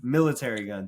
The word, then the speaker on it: Military Gun: Military Gun.